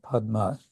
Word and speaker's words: Padma: it becomes in Bengali so actually I think in transcription there there would be p a d d o p uh because that's how Padma is pronounced uh then uh five